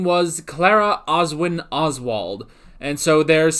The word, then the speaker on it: Clara: adventures as he meets a young girl named Clara or Clara if you want to pronounce it the British way I won't but whatever